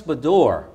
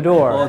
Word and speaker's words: Bodor: And I find myself with Bodor. Is that pronounced properly? Like a bow on a door, yeah, okay. Bodor.